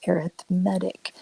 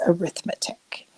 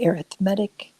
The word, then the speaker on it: arithmetic: Just so you know, it is pronounced arithmetic. Now, when we're doing calculations, that's arithmetic. It's the exact same spelling. When we talk about sequences, we say arithmetic. When we talk about just doing calculations, it's arithmetic.